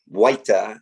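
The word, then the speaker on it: Huayta: we met willard waita from cusco peru um waita is is actually the way to pronounce his name so willaru came to us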